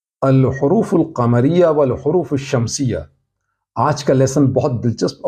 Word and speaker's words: الشمس: Definite article لگاتے ہیں تو لام کو نہیں پڑھتے، بلکہ لام کے بعد جو حرف ہے اسے شدہ یعنی تشدید لگا کر پڑھتے ہیں، جیسے الشمس۔ اس میں آپ نے دیکھا کہ لام کا تلفظ نہیں ہوا۔ اسی طرح الصبر، الدرس،